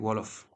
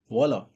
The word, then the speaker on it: Wolof: Like for me, I speak Wolof. Wolof. Wolof. That is Wolof. my. It is spelled as Wolof.